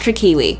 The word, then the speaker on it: Trickiwi: And for those who are wondering, my name altogether is pronounced Trickiwi. It's one word, no capital W.